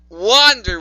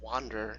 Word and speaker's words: wonder: Wonder Woman. Yeah, she said it wrong. She went wander, not wonder.